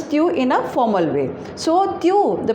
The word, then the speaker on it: es: So tu, the pronunciation is tu, and this meaning is you. Along with tu, we always use es, and the pronunciation of es is s.